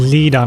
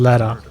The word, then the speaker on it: Leda: A young woman born into prestige and blessed with musical talent, Leda is consumed by rage, following Leda, not Leda.